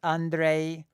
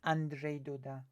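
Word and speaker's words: Andrzej Duda: next polish general election it's not Andre it's Andre Doda action I'm gonna be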